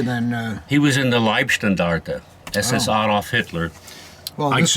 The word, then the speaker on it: Leibstandarte: And Yeah, a lot of people mispronounce Leibstandarte as Liebstandarte. Now, Leib means like body Uh-huh. guard. Standarte is a regiment, so bodyguard regiment. But people mispronounce it as Liebstandarte, which They- actually means the love regiment.